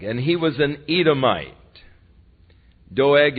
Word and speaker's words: Doeg: and his name was doag and he was an Edomite doeg and you could very well pronounce it dog because he turned out to be a real dog and he was the